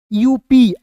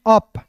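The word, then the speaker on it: up: तो यहां पे यू का उच्चारण अ के रूप में कीजिएगा और पी का उच्चारण प के रूप में करेंगे।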